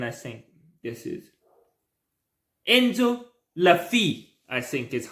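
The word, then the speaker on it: Le Fée: Lafy, I think it's how you pronounce it. That's how French people say it. I think it's le. It's not le. It's not le. So I think it's Lafy.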